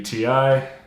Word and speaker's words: Ti: matters, but for me, it's always been TI because it's short for titanium from a product that they had, so TI. And so the correct pronunciation should be TI. And so there we have it, it's TI.